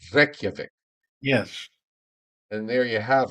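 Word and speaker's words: Reykjavík: You have to roll your R's, Joe. Reykjavik.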